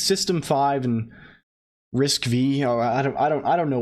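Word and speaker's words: RISC-V: driving arm I wonder did we establish it's pronounced risk V I think it's pronounced risk V and arm I wonder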